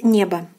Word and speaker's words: небо: So here the stress falls on the first syllable, and it is pronounced as небо, небо, небо.